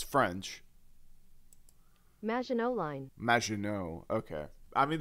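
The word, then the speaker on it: Maginot: uh Megan W or uh so pron yeah pronunciation it's it's French majino line majino okay I mean that makes sense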